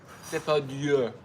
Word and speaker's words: Depardieu: That's how it's spelled. Depardieu. Depardieu.